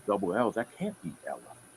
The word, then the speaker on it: Ella: Is it pronounced Ella or Elia? Ella.